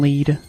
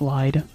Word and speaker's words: Lied: And if I remember, Elfen lead. Um, that's how you say it. Lead, not lied. I think that's German.